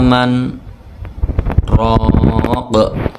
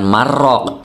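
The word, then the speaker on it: مَنْ رَاقٍ: al-qiyamah ya ayat 27 waqila Man roq Bukan marroq tapi Man roq berhenti di sini dulu dua ketukan tidak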